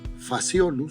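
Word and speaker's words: Phaseolus: Pero tú ves que ahí está escrito con PC y con h Lo que pasa que estos nombres provienen del latín por eso es que suena como una F faciolo tú lo vas a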